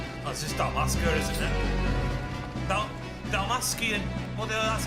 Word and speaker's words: Dalmascian: Dalmascian. Well, that's how you pronounce the bloody base of 16.